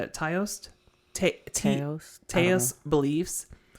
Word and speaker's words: Taoist: But theirs is the god of death is intermixed with Shinto, Buddhist, and how do you spell it? Taoist?